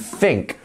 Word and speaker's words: think: this versus think so as you can see this and think both start with the same two letters T and H however they make a bit of a different noise when used in each word so this and think